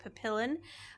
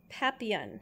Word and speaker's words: PapillonDeFur: read this off because for us it looks like Papillon it is not the dog um is papian is that correct that's